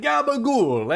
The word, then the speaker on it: gabagool: Gabagool, eh? Right? Just gotta say it like Tony Soprano.